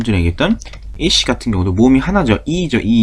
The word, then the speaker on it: ich: 이거를 이히라고 해버리면 모음이 2개짜리가 되는 거죠. 우리말로. 그러니까 그렇게 발음하지 마시고 이씨라고 그냥 깔끔하게 히는 뒤에 끝나는 소리입니다. 이씨 이렇게 발음하시면 좋겠습니다.